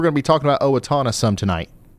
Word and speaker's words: Owatonna: I'm going to guess Owatonna, because I think we're going to be talking about Owatonna some tonight. Owatonna? Yeah, I got it. First try. Owatonna.